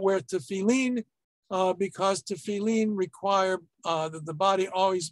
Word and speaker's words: tefillin: And one is not even supposed to pass gas when wearing the tefillin, or as it's usually pronounced, the tefillin. There's your Ashkenazi, Sephardi, different pronunciation.